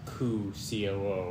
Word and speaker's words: coup: pigeon makes yeah that's cool i'm talking about c-o-u-p there's no p and coo it's silent letters are weird okay i will listen